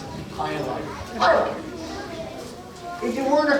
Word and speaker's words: Hilo: So, some folks ask how do you pronounce it? That's how you pronounce it. Hilo.